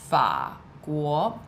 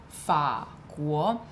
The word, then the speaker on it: 法国: The actual pronunciation for the character 法 is third tone. So you would actually say France, 法国, 法国.